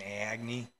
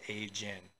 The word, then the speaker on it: AIGNE: this whole time it's a I was saying a Agy because that's what it looks like but it's pronounced a gen so you know jokes on me guys I've